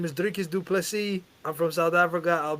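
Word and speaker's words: Dricus du Plessis: My name is Drickus Duplessis.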